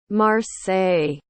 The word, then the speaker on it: Marseille: we are going to learn how to pronounce this. Marseilles. Marseilles. Okay, that's the pronunciation.